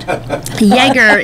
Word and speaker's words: Ioerger: Spell that again, because I just love it. Yeager, it's IOERGER, and they are from Minonk, Illinois.